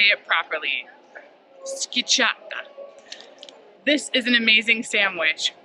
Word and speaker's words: Schiacciata: Schiacciata.